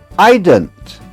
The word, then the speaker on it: eident: And you spell it e i d e n t. And you pronounce it e y e d n t, eident. It is Scottish, although there's a bit Irish in there, too.